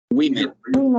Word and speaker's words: women: Se escribe woman, pero recordemos que se pronuncia women. ¿Recuerdan? Women.